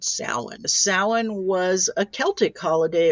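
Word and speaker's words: Samhain: It's commonly mispronounced Sam Hayne.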